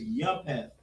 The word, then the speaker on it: Japheth: Now, Japheth, that's how you spell it in Hebrew a little bit, is Yapheth or Yapha. But, in English, there's no H in it.